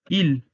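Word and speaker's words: ils: Ahora, en la tercera persona, masculino, el pronombre ellos es il. La S es muda. Se pronuncia exactamente igual que il de él.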